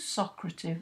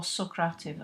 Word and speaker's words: Socrative: to Socrative or Socrative as it's sometimes pronounced this is a tool